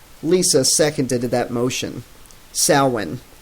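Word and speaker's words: Samhain: second into that motion Salman that's pronounced like Sal in it was the old North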